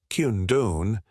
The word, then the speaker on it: condone: Using condone, pronounced kundon, gives your stance a directness that I don't think that's right, simply doesn't match.